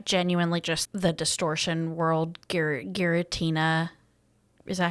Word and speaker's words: Giratina: I genuinely just the distortion world, Giratina. Is that how you say it? Yeah. Giratina.